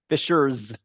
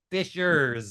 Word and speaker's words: Fishers: Fishers like Fishers with a Z. Fishers sure with an S but if you it's pronounced like it has a Z.